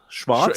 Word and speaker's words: Schwarz: Schwartz.